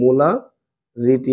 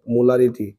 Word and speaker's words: মোলার: এর উচ্চারণটা কি বলছি একটু আগে আমি? মোলার। কি উচ্চারণ হবে? মোলার।